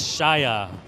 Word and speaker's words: Shaya: And it's Shaya is what I was told.